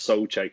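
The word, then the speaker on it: Souček: like you get soul check like it's thomas so check it's not like you know whatever some english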